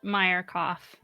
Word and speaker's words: Meyerkoff: Yep, and that I would expect it to be pronounced Meyerkoff, knowing about my mom's maiden name, and that's the last syllable in it, and that's how you pronounce it.